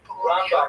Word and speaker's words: Rambam: Rambam is pronounced with the emphasis on the first syllable, Rambam, and Ramban is pronounced with the emphasis on the second syllable.